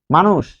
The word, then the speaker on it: মানুষ: মানুষ, যেমন মানুষ, মানুষ, তাহলে কি হচ্ছে, এটি হবে মা নুষ। এই যে তালব্য স, যেহেতু এখানে মূর্ধন্য স আছে, মূর্ধন্য স থাকলেই তালব্য স হবে।